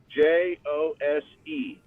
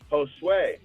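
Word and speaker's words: José: grande's best friends is spelled j-o-s-e but he does not pronounce it jose he pronounce it josue so every time he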